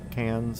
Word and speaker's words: Cairns: C A I R Ns cause is there like any hint of an R that y'all put in there and it just sounds like cans because it's so like